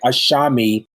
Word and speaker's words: ASAMI: Yeah, and I guess I should say it's spelled ASAMI, but it sounds like there's an H there with the S, so it's like ASAMI Teas.